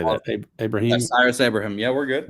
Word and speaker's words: Abrahim: Abraham.